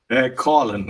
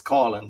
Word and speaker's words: Coughlan: Coughlan is the way I pronounce it. Like a lot of people would know it as Coughlan, because it's like even around Ireland, I'm from Cork, even County Cork is Coughlan. Everywhere else is Coughlan, but it's a city thing.